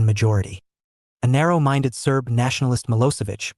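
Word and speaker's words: Milošević: a narrow-minded Serb nationalist mosovich pronounced milosevich had won the election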